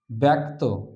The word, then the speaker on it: ব্যক্তি: এখানে বয় জফলা কয়তযুক্ত ব্যক্ত, উচ্চারণ করি ব্যক্ত।